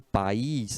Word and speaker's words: país: aí em país né quando eu falo o país em esse espanhol eu pronuncio duas sílabas ele país eles muito poderoso me país né a quando você falar país se pronuncia duas sílabas tem um ai tem